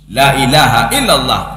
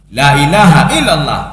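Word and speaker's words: لا إله إلا الله: Harus hati-hati kita dalam pengucapan la ilaha illallah. Kalau la-nya pendek, itu maknanya taukid. La ilaha illallah, la ilaha illallah.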